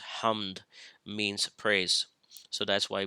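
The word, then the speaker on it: حمد: And then Ha Mim Dal, this combination of letters, which is pronounced as hamd, means praise.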